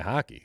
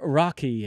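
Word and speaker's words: Roque: yeah well I'm doing it's an R I'm pronouncing it you know authentically I mean look if I can call a guy hockey I'm gonna call a guy hockey Victor Rocky if you want to americanize it um so uh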